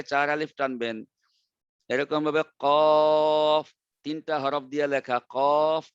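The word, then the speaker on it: ق: কফ মোটা করবেন, একটু আগে শিখাই দিছি মোটা কিভাবে হয়, যে জিহ্বার গোড়া উপরে উঠলে মোটা হয়ে যায়, আর জিহ্বার গোড়া উপরে না উঠলে পাতলা হয়, কাফ পাতলা হবে।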